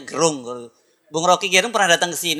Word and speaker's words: Gerung: Bacanya Gerung.